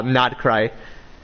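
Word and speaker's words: Nod-Krai: So, it's not like specifically a Genchin character, but there's characters of uh Nad Cry. Oh, is that is that how you say it? Yeah, it's not cry. Not not cry.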